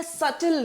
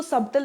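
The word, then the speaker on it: subtle: डरावना, harmful in अ सटल वे. इसको सबटल नहीं बोलते हैं, ठीक है, सटल कहते हैं. बी साइलेंट है.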